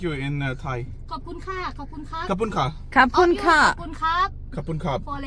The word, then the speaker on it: ขอบคุณค่ะ: ขอบคุณค่ะ ขอบคุณครับ Kapun ka.